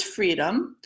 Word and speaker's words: Freedum: First, I want to mention the name of this pattern is Freedum and pronounces freedom.